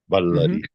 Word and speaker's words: Baladeva: Like when we say Baladeva, we use all the letters. Baladeva.